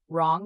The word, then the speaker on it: wrong: Write, wrong, wrap, wrist, sword, two, answer. Write, you say write. Wrong, you say wrong.